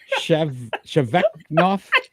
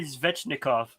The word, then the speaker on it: Svechnikov: Shevnevskov, Andrei Sheveknov. I knew it. 19 goals. Go ahead. You could correct that one. Andrei Svechnikov. Svechnikov.